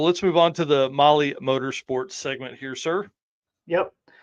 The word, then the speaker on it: Mahle: And of course, for our podcast listeners, Molly is spelled Mahle.